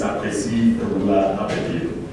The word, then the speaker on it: Akwasi Ababio: My name is Akwasi Ababio. I just, for the purposes of pronouncing it, the way it's pronounced in Ghana, I like to say that myself. And it's Akwasi Ababio.